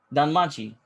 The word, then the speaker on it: Danmachi: Danmachi.